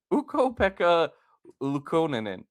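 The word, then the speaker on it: Ukko-Pekka Luukkonen: It is Ukko Pekka Lukonen.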